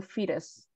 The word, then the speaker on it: fetus: fritters yep fetus um so that the tea in here it sounds a little bit like a d so fetus so you know what fetus is what's the meaning